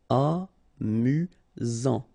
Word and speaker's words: amusant: You've got only one S here between the vowels, so it's really this Z sound. Amusant.